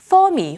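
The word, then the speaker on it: Fermi: 퍼미 혹은 페르미라고도 발음하기도 하는데 첫 번째 임차인, 계약을 했던 임차인이 계약을 해지했다라는 소식이 전해졌습니다.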